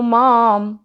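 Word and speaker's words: माम्: नाम श्रद्धावन भजते यो माम हमने माम लंबा नहीं करना मा के ऊपर बिंदी है आधे म का उच्चारण है तो हमने उसको ज खत्म करना है श्रद्धावन भजते यो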